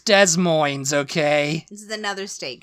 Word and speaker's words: Des Moines: It's Des Moines, okay?